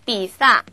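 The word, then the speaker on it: 比萨: 피자 바른 비슷하지 않나요 이렇게 영어식 발음을 그대로 발음 비슷하게 한 것을 우리 음역한 아라고 말하는데 그거는 그래서 삐 싸 피자라고 비싸 피자라고 말하고 혹은 뒤에 우리 중국식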